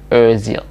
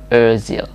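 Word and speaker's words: Özil: kasih contoh adalah Hai kawan main bola Mesut Ozil Ozil Hai atau bisa juga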